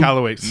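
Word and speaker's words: Michalowicz: And then all the stuff by Michael how do you pronounce his last name? McCallowitz.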